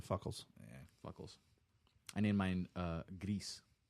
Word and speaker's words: gris: I named mine Gris. How do you spell that? GRIS. Like gray in Spanish.